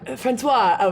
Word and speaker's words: François: Francois, which is spelled France and then Wa, like Washington.